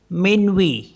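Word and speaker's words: minuit: टी होता है जैसे एम आई एन यू आई टी इसको क्या पढ़ते हैं मनवी मनवी मतलब मिडनाइट तो लास्ट का टी साइलेंट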